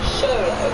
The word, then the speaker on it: Xoloitzcuintli: be able to pronounce, Xoloitzcuintli, there are plenty of ways this pooch is one of the rarest in the world. Xolo, that's how you say it. So Xoloitzcuintli, if I've got it right.